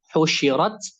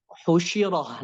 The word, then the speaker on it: Husyirat: Husyirat, sujirat. Nah, di situ jadi tidak boleh dibaca husyirah.